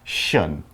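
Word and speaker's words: -tion: we have decorate decoration remember the t-i-o-n is pronounced shun okay can you think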